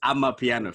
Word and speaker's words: Amapiano: It's Amapiano, fam.